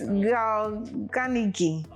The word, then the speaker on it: Carnegie: Okay, I think I listened to an audio, and I think this was the pronunciation I was getting. The Ganigi. Yes, Ganigi.